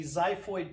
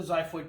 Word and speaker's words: xiphoid: tip that sticks down there is called the xiphoid process. It's spelled X-I-P-H-O-I-D.